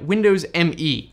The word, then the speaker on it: Windows Me: So starting off with number 7, we have Windows ME, officially pronounced Windows Me.